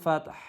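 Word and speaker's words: فتح: ইদা জাআ নাসরুল্লাহি ওয়াল ফাতহ ইদা জাআ নাসরুল্লাহি ওয়াল ফাতহ। ফাত বলার পরে হাটা উচ্চারণ করব, ফাতহ।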